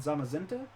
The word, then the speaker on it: Zamazenta: It's pronounced Zacian and Zamazenta.